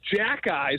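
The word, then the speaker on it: Xhekaj: it starts with an X it's uh it's pronounced Jacky so the Montreal Canadians they actually gave him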